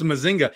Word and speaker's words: Mazinger: It's Mazinger. No, it's a Mazinger. I wish Lewis was still over here. You know, one Puerto Rican to another should be able to say. It may be pronounced like that in Puerto Rican, but in the reality sense, it's Mazinga.